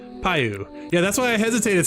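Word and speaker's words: Piu: P-I-U, which I still don't know how to pronounce, but... Payu? It's Payu.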